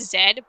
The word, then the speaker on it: Z: that no matter what Z always yeah I know before and he's you know blade fans come at me I know it's pronounced Zed but I'm American so I would see